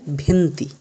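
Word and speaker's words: venti: 20এর উচ্চারণ হবে ভেন্তি। কি উচ্চারণ হবে?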